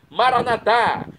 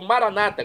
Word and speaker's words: Maranatá: E agora eu clamo do aramaico, Maranatá, como dizemos nós católicos, ou Maranata, como dizem nossos irmãos separados, os evangélicos ou protestantes, não importa a pronúncia, o significado é o mesmo.